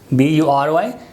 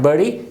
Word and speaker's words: bury: B-U-R-Y. Normally this word is mispronounced as bury. This is not bury, this is bury.